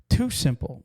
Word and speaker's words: TuSimple: Too Simple, which is spelled TUSIMPLE.